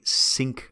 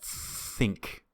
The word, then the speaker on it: think: it's quite clear that they say sync about my schedule like as if that th is an s so we need to hear that think think right we want to put our tongue between our teeth think think about my